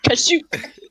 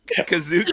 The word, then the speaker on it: Kashyyyk: Like when I was reading Aftermath, and he goes to Kashyyyk, or however they pronounced it in the show. Mike, you can. Yeah, Kashyyyk. It's Kazook in the holiday Kazook.